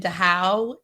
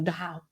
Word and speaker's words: Dachau: I visited Dachau in Dachau? Munich. No, Dachau. Oh, I thought it was Dachau.